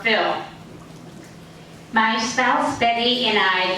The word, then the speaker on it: Phil: hi I'm Phil you may also say my name as but I prefer film my spouse Betty and I live in apartment 1068.